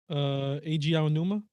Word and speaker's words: Eiji Aonuma: Eiji Aonuma.